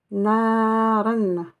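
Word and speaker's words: نَارًا: N, on prononcera N. Naren. Naren, avec la alif long, mais ça fait pas partie du alif, ça fait partie du tanwin.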